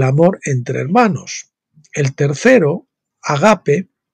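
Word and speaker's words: ἀγάπη: en griego en realidad si lo pronunciamos en griego sería agape y no ágape los dos últimos se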